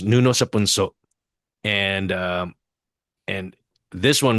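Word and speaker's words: Nuno sa Punso: So it's pronounced Nuno Sapunso, and and this one right here definitely what it was not relegated to the rural areas.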